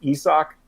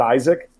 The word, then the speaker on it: Isak: know last year that his name was pronounced isak and not isaac no okay at the